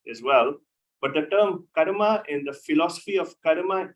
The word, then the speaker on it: karma: on happening it's then the term karma or pronounced in the west is comma supposed to be karma in avatar which his